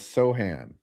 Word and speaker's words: Sochan: Oh, they say pronounce Sochan as Sohan.